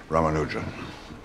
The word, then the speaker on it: Ramanujan: Rammanuja. Am I pronouncing that properly?